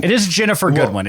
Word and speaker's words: Ginnifer: And then Ginnifer Goodwin, except it's Ginnifer. Is that how you pronounce that? I think it's a soft G in her first name. I've heard the most correct pronunciation. It is Ginnifer Goodwin.